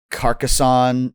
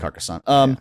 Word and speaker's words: Carcassonne: Carcosa or Carcassonne. And so I think it's pronounced Carcassonne.